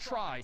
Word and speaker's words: trie: weird name in pronunciation short for retrieval pronounced try typically a try is a tree that